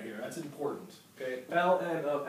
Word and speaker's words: ln: going to want to you're going to want to say l n of x to kind of say this thing right here that's important okay l n of x i kind